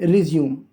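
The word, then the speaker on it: resume: यूज़ किया गया है, इसलिए आप इसको प्रोनाउंस करने का काम करेंगे रिज्यूम।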